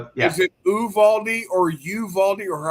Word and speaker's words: Uvalde: They pronounce it, as far as I understand, it's Uvalde. That's how they pronounce it on the news. So whether or not that's correct, I don't know, but that's the way I've heard it, Uvalde.